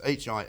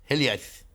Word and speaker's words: hiliaeth: I'm not sure how to pronounce it. It's H-I-L-I-A-E-T-H. Hiliaeth.